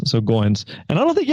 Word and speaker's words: Goins: when we first met his last name rhymes with coins so Goins and I don't think